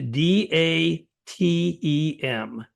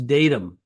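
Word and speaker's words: DATEM: this word on ingredient list uh it's a d a t m d is in dog a t m okay now when people see that on label they probably pronounce that as datam the ingredient datum well datam is an acronym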